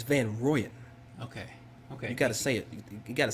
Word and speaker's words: Van Rooyen: I thought it was Van Rouyen. It's Van Rooyen.